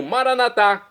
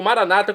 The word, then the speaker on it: maranata: E agora eu chamo maranatá, como dizemos nós católicos, ou maranata, como dizem nossos irmãos separados, os evangélicos ou protestantes. Não importa a pronúncia, o significado é o mesmo.